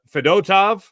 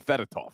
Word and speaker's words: Fedotov: responded by well yeah right before I say his name because you want to call him fedotov right fedotov yeah like what what the hell did I spend the last 40 years practicing Russian names for all of a sudden you got a do in there that's not cool every time I P